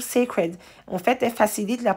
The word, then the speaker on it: Cécred: se dit seccred et ça se prononce toujours secret en fait elle facilite